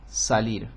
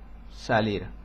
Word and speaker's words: salir: de España se se se pronuncia una es apical con la punta de la lengua sobre los alvéolos eh delante de los alvéolos del paladar y nosotros decimos Entonces nosotros decimos eh salir una una persona de